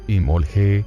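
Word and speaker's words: Imbolc: una ocasión muy especial in bolt viene de inbol pronunciado y molge con una vocal ligeramente átona entre la L y la g que significa en el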